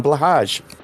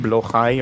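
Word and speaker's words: Blåhaj: they sleep on a blage perfect big stuffed shark from Ikea I know it's pronounced blai or something but I I say blage because it sounds cuter oh yeah everyone says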